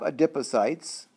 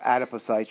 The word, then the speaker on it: adipocytes: we're going to have adipocytes or adipocytes you'll hear pronounced both ways so these are the